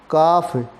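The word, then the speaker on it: calf: Self, सेल्व्ज, काफ, cause, इसमें L silent रहता है।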